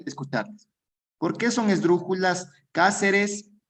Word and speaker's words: Cáceres: Cuando se acentúe en la ante, sí, puede ser en la antepenúltima sílaba o en la tercera tercera sílaba contando desde el final. Res te ca. Cáceres, última, penúltima, antepenúltima sílaba.